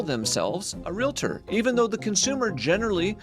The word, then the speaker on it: Realtor: Then they always pronounce it Realtor, but it's real T-O-R. No, it's Realtor. There's no I.